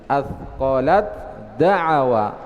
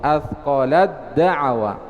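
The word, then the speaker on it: أَثْقَلَت دَّعَوَا: Kemudian yang kedua pada huruf ta dan setelahnya huruf dal. Athqalat da'awa, dibaca idgham. Athqalat da'awa.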